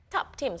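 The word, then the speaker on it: ทับทิม: Tap-tims, like Tim-tams, Tap-tims.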